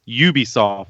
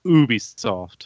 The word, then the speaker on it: Ubisoft: Like it's Ubisoft, not Ubisoft. I've heard it both. Yeah, but no, that's you pronounce a U like a U.